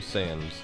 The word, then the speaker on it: Sands: It's actually Sands. I was going to say, how do you pronounce that when it first started?